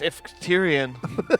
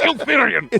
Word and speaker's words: Ilferian: I think it's because I mispronounced Ifterian. it's Ilferian. What? It's Ilferian! I-L.